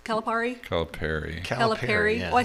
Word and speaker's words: Calipari: we've got a signed basketball from John Calipari Calipari it's Calipari Cal Perry Oh I said it right the first time